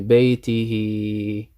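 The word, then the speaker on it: بيته: So you stretch it. You say baytihi, baytihi. Yeah?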